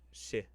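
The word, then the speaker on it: sídhe: I learned that the Sid SIDH is pronounced she, like she, like she, the she, the she, the she.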